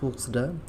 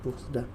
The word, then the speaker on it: Puxda: Play স্টোরে search করতে হবে, অ্যাপটার নাম হচ্ছে পুক্সডা, PUXDA। জাস্ট এটা লিখে সার্চ করবেন। দেখেন বানানটা আবারও দেখেন, এখানে উচ্চারণ এখানে হচ্ছে PUXDA, এটা লিখে জাস্ট সার্চ করবেন।